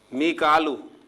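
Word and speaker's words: ميكال: मीकालू, जिसे हम मिकाइल कहते हैं, तो कुरान मजीद में इसे मिकालू प्रोनाउंसिएशन के साथ जो है लिखा गया है और अदा किया गया है।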